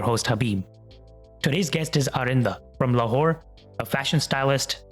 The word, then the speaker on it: Aarinda: sorry I've never really seen your name before arinda ARA pronounce yeah you pronounce it correctly so my